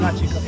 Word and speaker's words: Nachi Cocom: Nachi Cocom, yeah. We asked the cab driver, and he said it's Cocom, so.